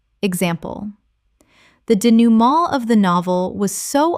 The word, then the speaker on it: denouement: cacophony cacophony Word 144 denouement Common mispronunciation. denouement Correct pronunciation. denouement Three syllables with a nasal final syllable inherited from French. Example: The denouement of the novel was